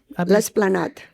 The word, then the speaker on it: L'Esplanade: L'Esplanade.